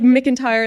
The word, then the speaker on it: McIntyre: No, It's like like McIntyre is like if you were to pronounce it and you didn't know to say like Yeah, it would be McIntyre.